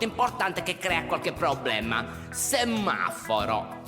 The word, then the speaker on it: semaforo: Semaforo. Semaforo si scrive con due M. Semaforo. Ripeti.